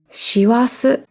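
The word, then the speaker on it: 師走: これは師走と読みます。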